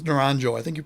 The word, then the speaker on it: Naranjo: kevin around naranjo naranjo i think it's naranjo i think you pronounce